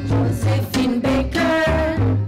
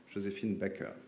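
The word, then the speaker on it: Joséphine Baker: Since a couple of days, French journalists pretend she wanted her name to be pronounced the French way, Josephine Baker.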